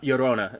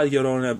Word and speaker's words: La Llorona: Because in this episode, La Llorona, I want to say Llorona, but it's Llorona. I'm sure my pronunciation is still abysmal at best.